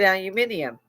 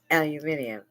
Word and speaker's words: aluminium: She said aluminium, and she was already gone when I came. When I learned in Europe that they said aluminium, that was how they pronounced it.